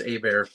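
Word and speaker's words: Hebert: this evening funny Justin you said Herbert is a bear uh there was a goalie for the Anaheim Mighty Ducks back in the 90s named ghee a bear h-e-r-b-e-r-t yeah there you go yeah and you wouldn't know it if somebody didn't tell you it's very true it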